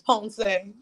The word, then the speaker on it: Ponce: my guy oh yeah if you mispronounce my name he gonna go it's ponzing it's possible yeah so